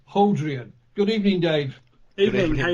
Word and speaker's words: Hodrien: Or it should be pronounced Hodrien.